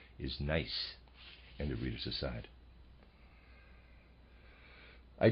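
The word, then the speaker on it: gneiss: been pronouncing it nce I apologize the correct pronunciation is nice and the readers aside I did tell you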